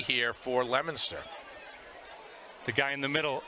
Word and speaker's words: Leominster: I showed them the name Leominster, and they did not understand the pronunciation, right? Because it's clearly Leominster. There's certainly a Leominster in the UK.